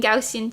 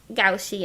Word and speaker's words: Gaussian: you living oh my I've been pronouncing it wrong my whole life I've been saying gausin to go goshan goshan I see yes me too me too I I said it wrong for so many years like at least a decade until I learned the that it was Gussy and shout out to